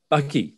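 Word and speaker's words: bakkie: because they call you it's buckies bucky but ba bucky b-a-k-i-e bucky oh i think that's just for south african pronunciation absolutely now um marco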